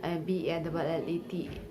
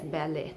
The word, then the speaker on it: ballet: T is silent in some words like whistle, listen, fasten, often, BALLET. It is pronounced as ballet, not ballet.